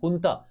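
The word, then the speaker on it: junta: as resisting the Burmese हुता जो ब म्यानमार की जो आर्मी है उसको हम हुता कहते हैं जे साइलेंट होता है एंड दे शड अ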